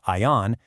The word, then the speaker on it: AAYAN: A foundation that ultimately led to the establishment of Ian Management Solutions, pronounced ION, in 2015.